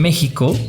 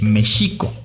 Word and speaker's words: México: nunca pronunciaron bien y es por eso por lo que en mexico se pronuncia con jota en mexico en lugar de la forma correcta que es méxico otro ejemplo de xochimilco